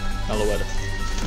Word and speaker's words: Meloetta: Meloetta. I always said it wrong.